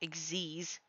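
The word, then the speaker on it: Xyz: XZ summary X is spelled x y z but it's pronounced exies weird to know uh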